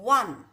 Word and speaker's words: one: when we are pronouncing one the first letter of the word one ver what is ver what is ver is